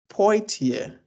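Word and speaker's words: Poitier: it differently deliberately, but her name is Sydney Tama Poier. There's an I before the tier. So, yeah, it's po. Yeah. Sydney. Oh, okay. Yeah. Sydney P. Sydney Tamilia Poier.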